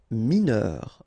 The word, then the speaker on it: mineur: Mineur, EUR, heure.